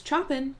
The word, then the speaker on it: Chopin: I thought her name was Chopin because one of my teachers at community college told me it was not pronounced like the composer unless I completely misheard